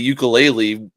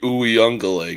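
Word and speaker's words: Uiagalelei: He's looking like DJ Ukulele from like what when he was back there 5 years ago or some shit. Yeah. Or I'm sorry, Uyungale.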